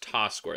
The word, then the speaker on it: Tasquare: it in puzzling here i think that's pronounced ta square that's what i'm going to assume could be t squared